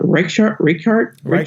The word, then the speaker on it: Reichardt: release First Cow, with from Kelly, I can't pronounce it. Reichardt, I think it's Reichardt.